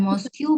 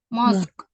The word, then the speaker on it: mosque: bukan Moscow bacanya, tulisannya benar Moscow, bacanya bukan Moscow ya, mosque. This is a mosque. This is Ya, Mosque. mosque. Ada Q-nya di belakang.